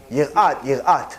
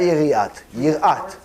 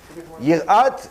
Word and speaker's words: Yirat: Yirat, not yiriat. Yirat, no, it's actually spelled the same way.